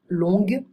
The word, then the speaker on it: longue: bas, basse, fou, folle, long, on ne prononce pas le G, longue, frais, fraîche, sec, sèche, blanc, blanche, grec, grec, public, public.